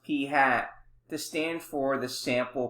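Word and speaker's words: p̂: a sample we use the notation p hat pronounced p hat to stand for the sample proportion a parameter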